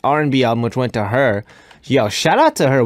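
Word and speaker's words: H.E.R.: Her name is Gabriella Wilson, better known as her stage name, H.E.R, pronounced her.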